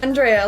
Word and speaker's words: Andrea: She gave us a way to remember how to pronounce her name. Andrea, like underwear.